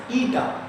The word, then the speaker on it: eta: Pronunciation is eta, ETA, eta, and his dimension is ml minus 1 t minus 1.